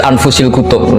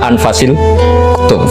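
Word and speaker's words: أنفس: dengan bacaan saya Sut bacaan Saya di sini ditulis anfusilutub saya baca anfasilutub karena maknanya kitab ter baik Kalau kitab terbaik bacanya bukan anfus tapi apa anfas ya nanti kamu debat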